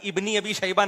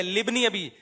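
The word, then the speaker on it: لابن أبي: साहब बता रहे हैं लोग इसको गलत पढ़ते हैं सही है ली इब्नी अबी शैबा अबे भाई इब्नी अभी शैबा नहीं है लि बनी अभी ये अलिफ साइलेंट है यह हमजा वसलिलाए ऐसा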